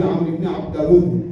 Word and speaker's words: عمرو ابن عبدود: ایسے میں عمرو ابن عبدود، اس کا صحیح تلفظ ہے عمرو ابن عبدود. ہم لوگ اردو زبان میں تھوڑا سا اوپر نیچے میں تو کوئی بات نہیں، تلفظ اتنی بڑی بات نہیں ہے.